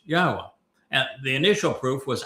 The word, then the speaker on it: Yahweh: to prove emphatically that Yahweh's name is pronounced Yahwa and the initial proof was actually quite easy but we didn't end it there.